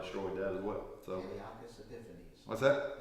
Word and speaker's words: Antiochus Epiphanes: So Antiochus Epiphanes. What's that? Antiochus Epiphanes. I was putting the wrong emphasis on the wrong syllables, wasn't I? I think that is correct.